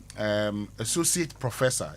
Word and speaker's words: associate professor: So, Jeffrey Tete, you wanted to know how you say associate professor.